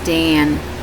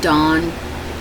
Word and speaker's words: Dan: serpent by the way his name was Dan which is you pronounce it Dawn because they that made the a sound da on and I met this